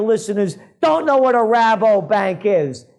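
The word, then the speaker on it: Rabobank: don't know what a rabbo bank is maybe they thought i'm mispronouncing it and i'm saying robert bank but no it's a dutch joint over there another one of the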